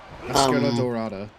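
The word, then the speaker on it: Máscara Dorada: Mascara Dorada.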